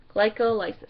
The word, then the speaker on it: glycolysis: Glycolysis, glycolysis is how it's pronounced.